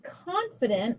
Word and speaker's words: confident: Confident. I, even though it should be a long I sound, because it's followed by that D, it's a short I sound.